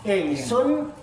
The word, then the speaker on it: ingsun: Insun itu kalau dibaca ikhfa menjadi ing insun. Insun. Nun mati ketemu sin. Tulisannya ins in insun. Insun. Insun. Insan. Insin bacanya ingsun.